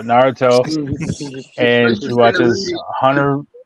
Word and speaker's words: Naruto: anime my kid watches uh Naruto right is that right that's how you say it yeah yeah because I was saying Dorado and she gets really upset so Naruto and she watches Hunter